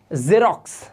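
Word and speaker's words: Xerox: तो यहां पर देखिए एक्स आई आर ओ x this इस कॉल्ड जेरॉक्स जेरॉक्स तो आपने देखा एक्स को जा साउंड भी किया जाता है इसी तरह से ए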